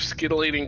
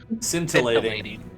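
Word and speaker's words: scintillating: am adding robe of skating colors to my um inventory that's a really funny way to pronounce that word sorry what did I say you said Skating what it supposed to be scintilating okay my bad I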